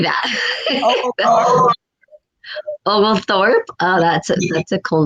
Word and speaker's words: Oglethorpe: Oglethorpe.